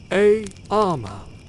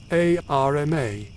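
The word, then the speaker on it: arma: No, the accent is on the first syllable. A armor, not a RMA.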